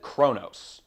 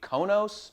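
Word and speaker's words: Qo'noS: Uh capital is So, it's spelled with complicated letters here, but everyone pronounce it Kronos. I hear an R in there. Maybe it's just supposed to be Konos, but I hear Kronos when they say it.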